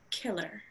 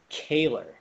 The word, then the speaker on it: Kehler: name chloe uh but my name is a little bit more on the german side it's actually pronounced kaler uh kaler is a